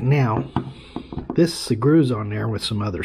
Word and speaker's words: Sugru: I say Sugru.